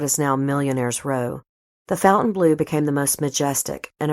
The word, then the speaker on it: Fontainebleau: may have noticed that the hotel took on an anglicized pronunciation of its namesake a commune in paris